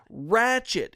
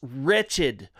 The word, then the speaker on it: wretched: Ratchet. It's wretched.